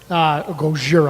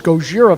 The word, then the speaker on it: Gojira: Gojira, I guess technically is how it's pronounced.